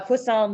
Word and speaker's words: poisson: poisson distributions all right we all get to say it right yes it's like it's like a croissant right it is uh poisson distribution um but uh